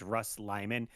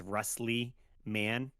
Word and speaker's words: Russ Lyman: but so my name's Russ Lyman and people often confuse it reading it together as rustley man cuz how it's spelled r u SS l like a rustly man like a I'm a